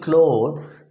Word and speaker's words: clothes: cloth as ah and plural clothes is pronounced with an o sound look at the difference